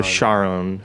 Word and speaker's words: Charon: his wife Charlene so he says that you pronounce it like Char as you were going to say Charlene and then on so Charon okay and that like